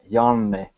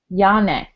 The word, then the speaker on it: Janne: It's Janne. Janne. Yeah, Okay. bit longer N, double N or triple N for you in the middle. Janne.